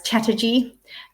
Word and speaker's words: Chatterjee: much I've been talking too much I'm can't pronounce words now it's Chatterjee um he's also got some fantastic podcasts if